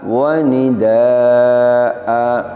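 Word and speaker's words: وَنِدَآءً: Saat wakaf kita baca wa nidaa. Kita ingat kembali kaidahnya bahwa apabila kita wakaf pada satu lafadz yang huruf terakhirnya adalah fathatain, fathah tanwin, maka cara wakafnya adalah dengan mengganti fathatain dengan fathah panjang.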